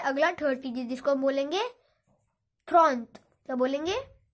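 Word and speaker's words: trente: Okay, फिर है अगला 30, जिसको हम बोलेंगे थ्रॉन्ट। क्या बोलेंगे? थ्रॉन्ट।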